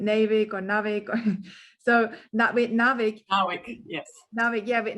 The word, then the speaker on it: NAWIC: Yeah, and sometimes with abbreviations, my pronunciation is a bit off. Is it NAWIC or NAWIC? So with NAWIC.